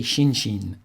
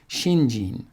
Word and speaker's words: shinjin: character is shin and the second character is also sheen but we pronounce it jean because it's hard to say shinshin it's kind of a